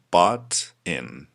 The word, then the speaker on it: butt in: So the first idiom of this lesson is butt in. Yes, butt in. It's pronounced de, double T when they come together. It's pronounced de in America. So we say butt in.